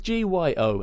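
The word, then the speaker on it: Gyo: had a reprint hardbacks of I think it's pronounced G or go it's G it's G yo anyway and it's a kind of horror film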